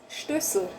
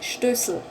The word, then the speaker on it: Stößel: But in German it's Stößel. Stößel. Oh, my mouth makes this funny movement, huh? Stößel. Stößel. Sl. Sl. So you actually have S-E-L again, Sel, Stößel, but you don't say that here. Say Stößel.